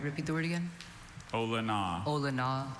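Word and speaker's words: olona: Ola. Are there any alternate pronunciations? Just the one. Ola. All right. Repeat the word again. Ola. Ola.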